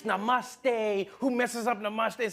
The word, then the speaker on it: namaste: People were coming on like, dude, it's not namaste, it's namaste.